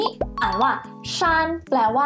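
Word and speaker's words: 山: คะ อักษร จีน เขียน แบบ นี้ อ่าน ว่า ชา แปล ว่า ภู เขา นั่น เอง หรือ คำ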